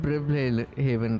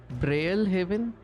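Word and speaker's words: Brilehaven: It's not Bri Haven, right? It's Braille. Braille Haven.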